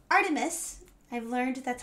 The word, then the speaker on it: ARTMS: do know is that you pronounce it Artemis so anyway we're going